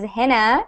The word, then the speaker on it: Hina: new I'm your teacher my name is pronounced as henna and I am from